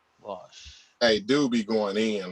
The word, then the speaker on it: Vaush: It's Vosh. You spell it VAUSH. VAUSH. Vosh.